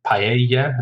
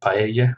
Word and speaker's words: paella: From Spanish, paella as well.